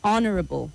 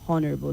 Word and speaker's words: honorable: So you say honorable, not honorable. The H is silent.